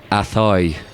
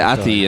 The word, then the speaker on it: Athoy: when we say Athoy, You pronounced that so well. Perfectly That was perfect. pronounced. Thanks very much. Anyway, sorry. I'm sorry. No, because people never pronounce it right, but that was spot on. look at here. I've literally written the Athoy. Oh, good. Yeah. Athoy. Because people always say Ati and all that kind